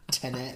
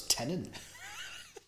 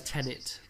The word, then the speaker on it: Tenet: who said you said it's pronounced tenet or whatever i thought it was tenant there's only one end just pronounce it as tenet and that'll be easier